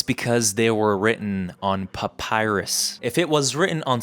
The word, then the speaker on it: papyrus: First, I've realized that I was pronouncing it wrong. It's not papyrus, it's papyrus.